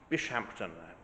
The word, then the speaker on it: Bishampton: Church of St James bishampton which may be pronounced bisham this is England after all it's largely being re